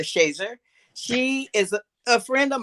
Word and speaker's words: Shazier: Well, Mother Shazier, as we call her here, and some people pronounce it Shazier, but we call her Shazer.